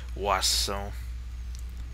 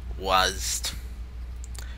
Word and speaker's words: WASD: Because this game came out before the whole popularity of Wasso. However you want to pronounce it. WASD.